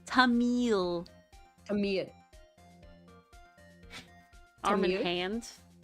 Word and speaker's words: Tamil: Tamil. Arm and hand. It kind of sounds like there's a soft uh on the end.